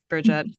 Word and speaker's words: Brigitte: I think every Americanized Bridget. Bridget.